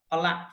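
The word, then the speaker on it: ផល: only 1 syllable, kal, pala, fruit. Fruit that also end in a. So when it is came into Khmer language, it's pronounced only 1 syllable, that is pal.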